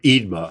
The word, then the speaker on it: Eadmer: So, so this book begins uh The Glories of Heaven by How do you say his name? Admer? Admer? Eadmer. Eadmer. Eadmer.